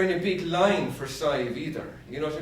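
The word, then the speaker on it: Sadhbh: Can you imagine living in America and you were christened Sive?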